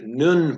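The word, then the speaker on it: נון: So if you read with me down here, Nun is pronounced like the N in nature.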